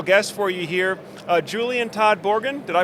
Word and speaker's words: Julian Todd-Borden: got another special guest for you here uh Julian Todd borgan did I pronounce that right you did yeah all right